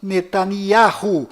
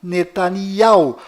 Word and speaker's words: Netanyahu: Bom, voltando ao assunto, fora de Israel, o nome deste primeiro-ministro é pronunciado Benjamin Netanyahu, mas dentro de Israel, o nome dele é pronunciado Benjamin Netanyahu.